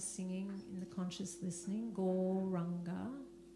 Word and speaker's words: Gauranga: The mantra is the one that I was singing in the conscious listening, Gauranga. And it's said in 4 syllables, Gaur, Ra, Anga.